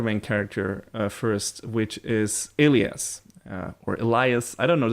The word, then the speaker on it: Elias: character first which is alias or Elias I don't know the show you know in the show he's pronounced Elias so I'm calling him that I mean I wish